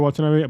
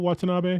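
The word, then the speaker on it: Watanabe: I kept saying Shiniro Watab, but I'm pretty sure it's Shiniro Watanab.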